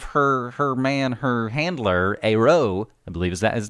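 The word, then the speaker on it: Eyraud: well sort of her her man her Handler AO I believe is that is that the pronunciation AO oh that's good yep and and Taylor Made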